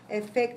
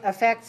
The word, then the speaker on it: effect: effect and effect okay usually usually we just say the same thing effects and affects and it doesn't make any difference in the pronunciation especially when we say it in a sentence okay so usually you